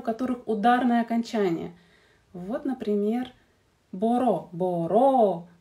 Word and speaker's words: μπορώ: «Боро», «меланхоло», «меланхолис» — это ударное окончание.